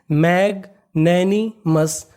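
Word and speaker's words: magnanimous: MOUS, OUS को हम लोग इंग्लिश में पढ़ते हैं अस। ये हमारा कोड है, अगर आपको कहीं पर OUS लिखा मिले तो आपको उसका उच्चारण करना है अस। और आगे हमारा M लिखा है तो मीनिंग बनी इतनी मस। तो पूरी मीनिंग मैग नैनी मस, मैग्नैनिमस, मैग्नैनिमस।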